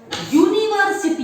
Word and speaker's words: university: This university, it is pronounced with a Y.